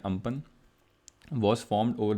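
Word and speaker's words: Amphan: अब why this topic is important for prelims, because in the year 2020 cyclone अम्पन, ठीक है, इसको pronounce करते हैं अम्पन, was formed over the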